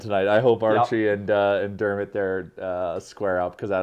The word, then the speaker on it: Dermott: It's just Dermott, not McDermott.